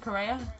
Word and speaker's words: Correa: Correa?